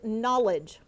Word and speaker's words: knowledge: Your word is knowledge. Knowledge. N. Oh, I disagree. The first letter is not an N. It's actually a silent letter.